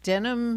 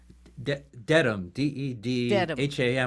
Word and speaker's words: Dedham: comes to us from Denham Massachusetts did I say it right Dedham although sometimes we spell